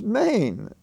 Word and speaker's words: mein: what is it and what's the pronunciation of m e i n in the phrase chow mein is maine long a m e i n